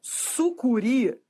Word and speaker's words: sucuri: Sucuri é oxítona terminada em i.